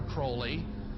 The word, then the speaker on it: Crowley: about was aliser Crawley he likes to have his name pronounced Crowley to rhyme with holy and uh the satanists